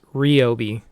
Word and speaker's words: Ryobi: think I just learned I've been pronouncing Ryobi incorrectly everyone says it's riobe I don't know that sounds wrong to me so I'm going to call it Ryobi we'll take a quick